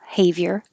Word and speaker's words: behavior: the o pose and you can say be behavior but it's not stress so that b will change to a behavior behavior and it doesn't look like it but there is like a year a y in there behavior be on your